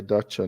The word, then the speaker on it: dacha: So, not cha like say dacha, not cha.